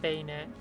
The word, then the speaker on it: Banette: It was Benette? My first shiny in Omega Ruby. Currently in my Violet save. I don't know that Pokemon. Banetta. At least I don't think I know that Pokemon. It's pronounced Bayonet.